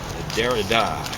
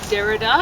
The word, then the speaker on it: Derrida: I think it's Derrida. Derrida? I think it's French, so you kind of accent the last syllable. Although, strictly speaking, I think there's an accent on the first syllable.